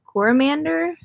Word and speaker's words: Coromandel: We are going to be going up north to the Bay of Islands, and then we'll go down to the Coromandel.